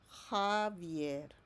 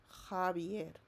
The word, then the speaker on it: Javier: Remember this J, it sounds like H in English. So how are you going to pronounce the name of this boy? Correct. Javier. Javier.